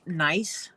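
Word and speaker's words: gneiss: this rock that's called nice it's spelled GN i s s or something like that but it's pronounced nice and it comes with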